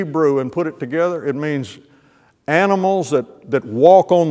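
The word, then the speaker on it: מין: the word mean is pronounced mean like me m-e-a-n but it's it's spelled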